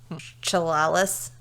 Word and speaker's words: Chehalis: Chehalis, Washington. Cholula? How do you spell it?